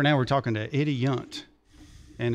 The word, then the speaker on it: Yount: wife, and she said, you better ask him how to say his last name, because it looked like, because I was saying Yount. Yeah. And she said, I work with somebody, and it said it's Yount. So, but you work at